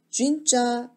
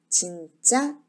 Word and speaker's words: 진짜: 느냐 오물이 지 않느냐 영어식으로 입술을 오무려 발음 하게 되면 진짜 이렇게 발음이 되는 거구요 한국어 처럼 입술을 오물이 지 않고 바로 해야 진짜 이렇게 바로 이 되겠습니다 자 그러면